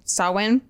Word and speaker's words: Samhain: the similar fashion and that was salwen sawwin yeah it's spelled sam haynes yeah my whole life